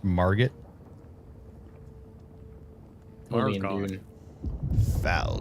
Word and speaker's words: Margit: It's pronounced Margit.